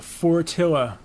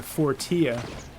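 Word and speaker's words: Fortilla: that right let's get up on here the four Atilla took me about a week before I realized that's how it's pronounced I was calling at the 40th my five-year-old son calls that the tortilla I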